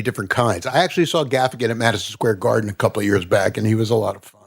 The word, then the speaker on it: Gaffigan: I like Jim Gaffigan.